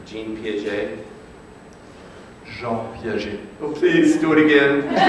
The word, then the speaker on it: Jean Piaget: Sir, could you tell us the proper pronunciation for Jean Piaget? Jean Piaget.